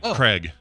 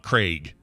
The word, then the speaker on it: Craig: i pronounce it like craig not craig oh really so he like he says i pronounce it like k-r-e-g yeah he says i